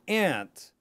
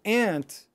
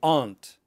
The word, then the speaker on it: aunt: British English will say aunt. Totally normal. I get that all the time. In American English, these two words are pronounced the same way.